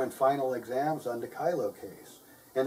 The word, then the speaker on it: Kyllo: kylo case and it's it's pronounced kylo kylo not kylo or kilo now a lot of you students out there not pronouncing my name right so i hope i hope you can say it now kai lo kylo and